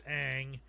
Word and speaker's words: Aang: then they you know they mispronounce Aang it's not Ong it's Aang you did you even